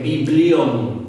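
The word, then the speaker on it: βιβλίον: Libro en griego se escribe o se lee biblión, así, biblión. Y de allí viene la palabra Biblia. Eso es, libro en griego es biblión, B-I-B-L-I-O-N, biblión.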